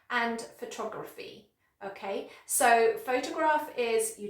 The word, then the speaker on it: photography: But with the other noun, the stress is on the second syllable, so it's very soft, photography, photography.